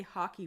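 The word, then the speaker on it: hake: This is what's called a hockey brush, and that is spelled H-A-K-E, and this is a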